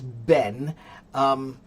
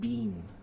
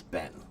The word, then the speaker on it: been: How do you pronounce Ben? And are there two pronunciations? Edgar, it's Ben. British people occasionally might pronounce it more like bean. How have you been? But American pronunciation is Ben.